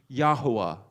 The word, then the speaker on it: Yahuwah: Yod, He, Wah, He, we see the pronunciation based upon the other Hebrew words for the other Hebrew names of prophets, Yehoshaphat, and others throughout the scripture. We can come down and be certain of the pronunciation Yahuwah.